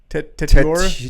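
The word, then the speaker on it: Tetairoa: How do you pronounce it again? Tetiora. Tetiora.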